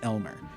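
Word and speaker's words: Aylmer: a yl Amer Alma but it's pronounced Elmer okay so this thing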